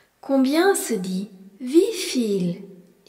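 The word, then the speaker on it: wieviel: Combien se dit vifil ? et s'écrit W I E V I E Lifil.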